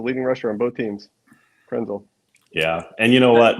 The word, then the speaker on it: Krenzel: kenzel so anything's possible kenzel could run themel was a runner rhymes with Denzel you know he was